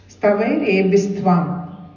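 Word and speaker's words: स्तवैरेभिस्त्वं: Stavair ebistvam. Stavair ebistvam. Okay, stavaire bistvam. It is pronounced together as stavaire bistvam stoshyatya malanane. It comes like that.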